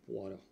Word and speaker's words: Poirot: se llama Hércules poaro se escribe poirot en francés poaro Hércules poo es el